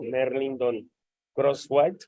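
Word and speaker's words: Merlindon Crosthwatt: Donando a mi cuenta, está en mi canal de YouTube, tal cual como aparece aquí mi nombre abajo, Merlindon Crosswhite, con acento en la E.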